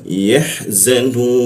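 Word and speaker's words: يَحْزَنُونَ: Lalu wawu dan nun kita matikan seolah-olah muncul bendera. Maka nunya itu dibaca tiga ketukannya. Jadi cara membacanya adalah yahzanun.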